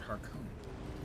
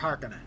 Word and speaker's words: Harkonnen: I believe Herbert pronounced it Harkonnen. Harkonnen is more appropriate for a name of Finnish extraction.